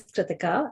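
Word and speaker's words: Kritika: um my name is tritika um it's pronounced like ithaca so it's kind of easy to remember um my debut book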